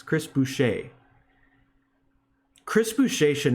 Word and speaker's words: Chris Boucher: foul calls like dude chris boucher that's how you pronounce it right it's not boucher it's chris boucher chris boucher should not